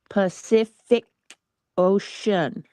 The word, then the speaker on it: Pacific Ocean: no Janice pafic so the first C is pronounced as a s the second C is pronounced as a k and the third C is pronounced as a sh Ocean Pacific Ocean like an s oopsie